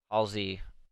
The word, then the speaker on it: Halsey: like I was done like seven hours ago Halsey that's how you say it really some music